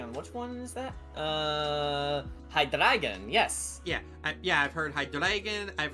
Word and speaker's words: Hydreigon: And a Pokemon I have heard so many pronunciations for. Hang on, which one is that? Hydreigon, yes. Yeah, I've heard Hydreigon, I've heard Hydreigon, I've heard Hydreigon. Hydreigon. Yeah. I say Hydreigon because it's just more fun to say.